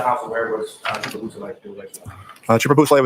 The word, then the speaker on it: Beausoleil: Could you say that name again and spell it for us? Yes, please? sir. It's Trooper Jason Bousselet.